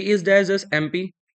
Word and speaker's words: MP: शी is dash dash एमपी। एम, ए से pronunciation हो रहा है।